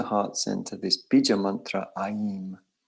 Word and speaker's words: Aim: We're going to place in the heart center this bija mantra Aim. It's spelled A-I-M, but it's pronounced Aim.